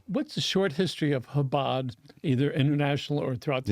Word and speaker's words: Chabad: acceptance and awareness of habad and it's not Chabad right I know I'm not pronouncing it perfectly but habad what when you when you when you put